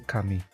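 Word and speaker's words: Ookami: You have to pronounce the oo separately. Okami.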